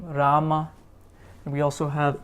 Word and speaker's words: Rama: So we have the Ra sound being attached to a short and the Ra sound being attached to a long So Rama, Ravi.